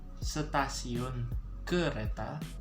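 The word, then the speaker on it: stasiun kereta: to be pronounced as sattasiyun kureta so train is so good okay it's like pronouncing kudeta same thing but we're going to change up a little bit change the d with r okay and then u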